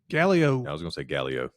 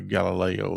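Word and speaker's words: Gallio: Gallo. I was going to say Gallo. I was going to say Galileo.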